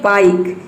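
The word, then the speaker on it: bike: जैसे कि देखिए यहाँ पे है ये बाइक, इसमें लास्ट में ई आया है, ई को हम प्रोनाउंस नहीं कर रहे हैं, ई साइलेंट है।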